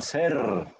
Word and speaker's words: ser: Temos que vibrar essa língua, ser, verbo ser.